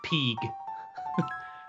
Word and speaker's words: pg: something like that, but they pronounce it Peeg.